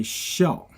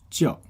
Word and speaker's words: 校: Currently, this one, when you say 校, so that means school or the military rank. Okay. And then it has a second pronunciation called 教. Oops. We call it 教.